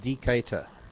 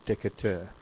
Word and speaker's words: Decatur: the over this joey joey shaw pronounced decatur not decatur thanks joey i was trying to pronounce it the french way i guess it's pronounced the american way decatur decatur in illinois that was when i